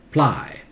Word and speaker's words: apply: Start with then apply. Apply. Okay? Apply. Double P is pronounced as single P.